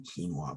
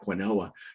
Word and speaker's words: quinoa: you know in fact I couldn't say quinoa properly and I was in a Whole Foods and I looked around and there was a worker and I said how do you say this you know she goes quino says oh thank you I was calling it quinoa you know right so